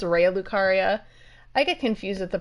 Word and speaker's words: Raya Lucaria: I say Raya Lucaria. I say that every time, but it's Raya Lucaria.